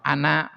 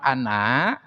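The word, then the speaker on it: أَنَا: Ya, seperti kemarin lafaz ana, maka nanti di dalam Al-Quran itu banyak lafaz ana. Tah, nak di sana jangan dibaca panjang. Tapi naknya dibaca pendek.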